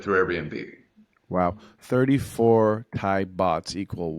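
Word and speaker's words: baht: it's pretty easy these days how do you pronounce it but bot bot B aht oh that's right B aht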